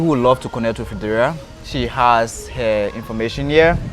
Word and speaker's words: Fredara: Did I pronounce the name right? Oh, it's Fredara.